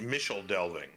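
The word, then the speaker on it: Michel Delving: development, was in Micheldelving, which I've heard is actually pronounced Micheldelving. But I pronounce it Michael Delving because I'm not because I've heard that that's how it's pronounced, but because that makes my brain happy.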